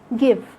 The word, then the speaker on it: give: Letter E is silent when it comes at the end of a word, like when you say give, have, some, before. And sometimes the silent E